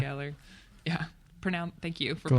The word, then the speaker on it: Gellar: Gellar. Gellar. Yeah. Thank you for Gellar. pronouncing that Yeah. properly. Is that how you pronounce it? Galar?